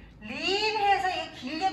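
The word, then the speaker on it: leap: 립 해서 이게 길게 발음해야지.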